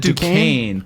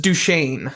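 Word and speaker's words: Duchesne: Dukane cuz that's how like you know like Dukane University or Duchain. Duchessn. Is it D? Is it like Dis or something? No. So, it's just Duchain.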